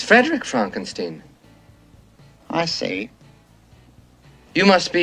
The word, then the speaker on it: Frankenstein: Well, why isn't it Frederick Frankenstein? It isn't. It's Frederick Frankenstein. I see. You must be Igor. No, it's pronounced Igor.